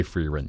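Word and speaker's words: Frieren: something hashtag a larber cheeky cheeky you think people say free rent yeah I think I'm pretty sure so it is free thank you that's what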